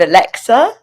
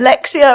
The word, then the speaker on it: Alexa: And somebody asked me to do this vlog with an app, with Alexa. Is it Alexia or Alexa? Because I was saying it wrong at the beginning because I'm not technical.